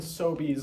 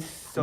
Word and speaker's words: Sobeys: frills and sobies are the only Sober. pronunciation. Yeah. Look, no frills. look, I'm sorry, but that's Fre. Not No E. frials and sobays.